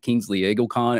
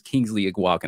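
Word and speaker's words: Kingsley Eguakun: I like Kingsley Eagleton. I think it's Kingsley Iguacan.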